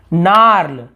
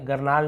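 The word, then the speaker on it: gnarl: यहाँ पे देखिए, यहाँ पे नार्ल, नार्ल, ये गरनाल नहीं है, नार्ल, लकड़ी की गांठ को नार्ल कहते हैं। यहाँ पे जी को नहीं पढ़ेंगे, जी एन एक साथ है तो जी को नहीं पढ़ेंगे।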